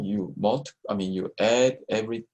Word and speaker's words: mu: about and how do we pronounce this we pronounce this mu and this refers to population mean which is